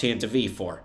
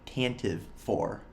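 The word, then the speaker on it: Tantive IV: It's pronounced Tantive 4. I wholeheartedly reject that. It looks like Tantive, I'm calling it Tantive, okay?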